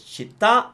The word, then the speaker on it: città: It's got an accent on the A, which means you stress it. So it's città, and it stays the same in the plural.